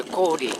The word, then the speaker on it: 고려: 이 고려는 본래 려라고 안 했어요. 리라고 하는데 고리, 가오리, 고리, 구리. 리라고 읽어야 되는데 일본 조선시대 때 그걸 려로 바꾸는 바람에 지금 이제 역사에 많은 이제 혼선이 생긴 거죠.